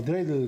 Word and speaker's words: dreidel: Damián, vimos que en el informe de Maya, en Hanukkah los niños juegan con una perinola o dreidel, como se dice en Yiddish.